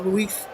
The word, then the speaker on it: Ruiz: Marquinhos, Beraldo and Mendes, Neves, Vitinha, Ruiz, or Ruiz as his pronunciation is.